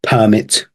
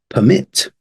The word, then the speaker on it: permit: Noun, permit, and verb, permit. And stress is on the second one for the verb, yes, right?